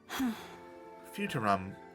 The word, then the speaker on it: Futurum: That's how it sounded pronounced in the local tongue, anyway. Futurum.